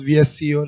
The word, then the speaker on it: VSCO: Look at ViscoCam. Visco's VSCO. That's how it's spelled.